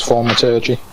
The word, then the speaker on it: thaumaturgy: That's not a shit pronunciation. Well, I could distract him. I think thaumaturgy is correct. Yeah, it is thaumaturgy.